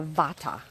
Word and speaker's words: Vata: first type of person is what's called the Vata person and that spelled V like Victor a